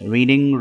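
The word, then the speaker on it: read: है रीड पढ़ना रीड्स रीडिंग रेड रेड second और थर्ड फॉर्म की स्पेलिंग वही है जो फर्स्ट फॉर्म की है लेकिन अदायगी रेड होगी राइड सवारी करना घोड़े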